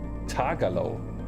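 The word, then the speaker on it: Tagalog: advertisements for lace here talog is what they speak in the Philip Philippines is pronounced tagalo tagalo oh okay okay a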